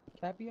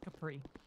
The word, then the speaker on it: Capri: London, Cappy, I believe? Capri. Capri, I'm sorry. Sorry about that.